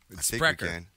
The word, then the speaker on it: Spreaker: Like a speaker, but a Spreaker.